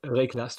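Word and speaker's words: Wraeclast: Reclast, oui. C'est le W se prononce à peine.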